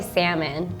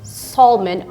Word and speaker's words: salmon: the next one is I would just say salmon but when I hear people say salmon oh please no it makes me cringe I